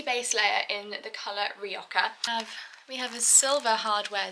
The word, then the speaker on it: Rioja: Not Rioja, not Rioja, not something else that I think I pronounced it as. It is in fact Rioja, and if you don't